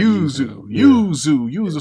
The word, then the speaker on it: Yuzu: How do you pronounce that, Lavon? Yuzu emulator. You're saying it right. Yuzu.